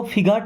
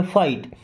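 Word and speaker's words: fight: इसको फिगाहट नहीं पढ़ते। फाइट।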